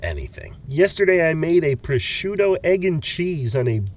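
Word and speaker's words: prosciutto: Yesterday, I made a pushuto egg and cheese on a buttered and pepper jellied English muffin. Oh, I know some Jersey Italians who are going to hate that you pronounce it pusho.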